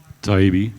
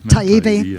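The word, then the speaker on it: Taibbi: Taibbe. Taibbe, thank you very much.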